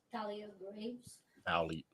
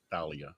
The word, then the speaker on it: Thalia Graves: You wanna pronounce her name? Thalia Graves. Thalia.